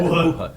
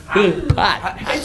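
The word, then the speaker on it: HuHot: Who hut? Who hot? Who Hut. Who hot? I said Who Hut. Yeah, you said it wrong. Who hot?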